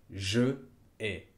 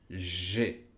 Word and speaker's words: j'ai: No, se dice j'ai 35 ans.